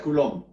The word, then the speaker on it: Coulomb: Por eso se escribe colou y se pronuncia culom o u suena u cul. Muy bien. El señor Culón, un científico también muy